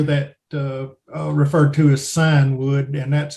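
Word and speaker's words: scion: may also hear that uh referred to as sign wood and that's how you pronounce that word as cion sometimes i see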